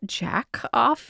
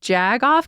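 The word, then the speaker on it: jagoff: Was that jack off instead of jag off?"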